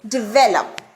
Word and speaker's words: develop: There are 3 syllables, de-ve-lup, and the stress lies on ve. Develop.